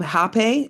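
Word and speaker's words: rapé: And then I did what's called um um hape. It's spelled R A P E.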